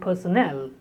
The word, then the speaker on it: personnel: Personal and personnel, they are written differently, spoken differently. The word personal is stressed on the first syllable and personnel is stressed on the third syllable.